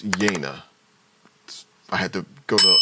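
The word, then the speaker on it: Yeine: with a young woman named yena Yana Yani I had I actually had to go to the audiobook to just really find out how to say this because I yeah I think I don't think I already know right so yeah so her name is yena I had to go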